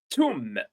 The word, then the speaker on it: tomb: Tomb. Not to but tomb.